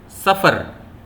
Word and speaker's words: سفر: کا پہلا لفظ ہے سفر۔ غور سے سنیے، سفر۔ یہ جو لفظ ہے اس کا جو پہلا حرف ہے وہ ہے سین۔ سیٹی کی آواز باقاعدہ نکلتی ہے سین میں، سین۔